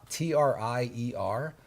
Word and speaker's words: Trier: So, Trier is spelled T R T R I E R like Trier.